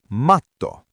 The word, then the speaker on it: matto: That word is matto. To say the double T, you have to hold your breath for a split second on the T, like a tiny hiccup or a stop.